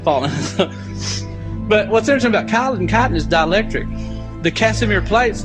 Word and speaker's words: chitin: world are cellulose, because it doesn't decay, and chitin. Chitin is spelled C-H-I-T-I-N.